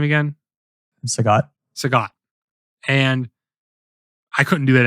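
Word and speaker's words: Sagat: Sagot Sagot.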